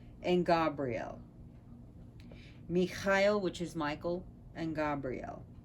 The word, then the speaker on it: Michael: attributed to iolite are michaela and gabriel mikhail which is michael and gabrielle but it's supposed to be kyle the ch is always like a loch pronunciation michael so i like